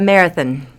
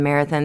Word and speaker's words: Marathon: the little town of marathon there's something about the locals say Marathon by the way it is Marathon right but Marathon there's something about the